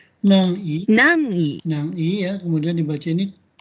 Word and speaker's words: 南緯: Kalau ini bacanya nangi 南緯、 ya.